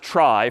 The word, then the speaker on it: trie: a fancier tree and it's short for retrieval but pronounced try for weird historical reasons but a try is a tree each